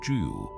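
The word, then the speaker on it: 九: The number nine however was his exclusive domain pronounced due. It is a homophone for the word meaning everlasting or longevity.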